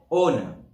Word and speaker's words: honor: Whereas, where H is indirectly pronounced, for example, H is silent on a word. For example, hour, hour, honor, honest.